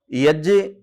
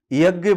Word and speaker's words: यज्ञ: यज्ञ शुद्ध उच्चारण है, लेकिन हम जानकारी न होने के कारण यज्ञ बोल देते हैं। ध्यान रखना, ये ज संयुक्त व्यंजन है जो ज और य को मिलकर के बनता है। जैसे त और र को मिलाकर के त्र बनता है, वैसे ही ज और य को मिलाकर के यज्ञ शब्द सिद्ध होता है।